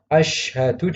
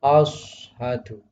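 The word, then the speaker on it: أشهد: Misalnya yang seharusnya asyhadu dibaca ashadu. Ashadu. Nah, ini juga salah.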